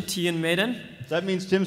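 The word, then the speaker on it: Tion Medon: our prequel character our prequel character today is Tian Maiden so that's the official pronunciation Tian Maiden that means Tim said it wrong during her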